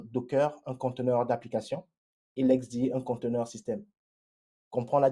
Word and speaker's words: LXD: L'XD, ça s'écrit LXD, mais ça se prononce l'XD.